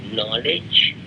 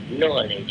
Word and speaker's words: knowledge: Although K is silent, mute, still the K is there because the root word is Keno, K-E-N-O, K-E-N-O-W. What is Jnana? What is knowledge? Knowledge is subjectivization of external objectivity.